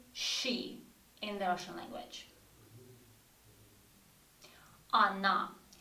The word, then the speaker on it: она: If we have O in the word, but O is not stressed, you see, A is stressed. So when we pronounce in the speech, we don't say O, we say она. Yes, we write O, but we pronounce A.